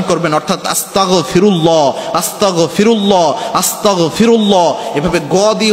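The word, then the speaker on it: أستغفر الله: হয়ে যায় এজন্য যখনই আপনি আস্তাগফিরুল্লাহ পড়বেন গ উচ্চারণ করবেন অর্থাৎ আস্তাগফিরুল্লাহ আস্তাগফিরুল্লাহ আস্তাগফিরুল্লাহ এভাবে গিয়ে উচ্চারণ করবেন ক দিয়ে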